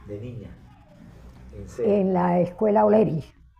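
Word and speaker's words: O'Leary: en la escuela oleri que le dicen oleari también porque así se escribe pero la señorita josea nos acostumbró a decirle oleri que era por el general oleri que no era el general oleari sino oleri oleri de las barrios de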